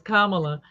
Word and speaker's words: Kamala: say her name right it's like mamala it's Kamala like Mala it's a it's a